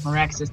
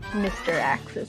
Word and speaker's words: Miraxis: other 3 runners as Miraxis does Baronade. Yeah. And also, yes, that is how you pronounce it. I know it trips people up. I definitely thought it was like Mr. Axis or something.